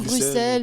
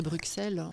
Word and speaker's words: Bruxelles: dit bruce chaque fois je sais pas comment prononcer pas moi j'aime bien dire bruxelles mais c'est vrai que normalement c'est bruxelles donc tu es musicien